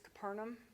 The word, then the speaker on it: Capernaum: Capernaum, that's how they say it.